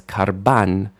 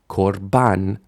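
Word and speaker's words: קָרְבָּן: This word might look like it says karban, but it really says korban, because the stress is on ban, and kar is a closed syllable, so the a shifts to o, korban. And you can really see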